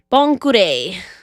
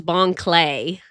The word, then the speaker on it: Bon Clay: Bonkure. The way that people pronounce it, I always thought it was Bon Clay.